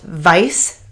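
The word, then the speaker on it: Weisz: name was uh sorry I might mispronounce this because it's Hungarian but it's Eric what would be pronounced Vice let's just like we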